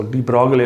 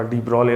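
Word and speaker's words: de Broglie: ये कंसेप्ट सबसे पहले डी ब्रोले ने दिया था, जिसको डी ब्रोगले लोग पढ़ते हैं, हमारा डी ब्रोले असल प्रोनाउंसिएशन है।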